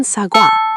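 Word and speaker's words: 사과: First, wa combines o plus a, making a wae sound, like in sagwa, meaning apple. Your lips start rounded for o, then open for a.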